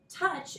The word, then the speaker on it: touch: Touch is 1 closed syllable, and it actually has a vowel team that's making a short U sound, touch, but this CH on the end here is a digraph that makes the ch sound.